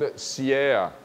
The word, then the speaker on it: siea: The discs are called siea.